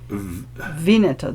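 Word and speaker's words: Vigneto: Vineto the G is silent vineto.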